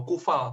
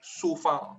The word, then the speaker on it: Coufal: Terus Coufal itu bukan dibaca Coufal atau Kufal, tapi Soufal.